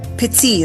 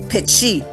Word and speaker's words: petit: So in French, when we use the letter T, okay, so petit is French, but in Michif we say petit. We pronounce with a CH.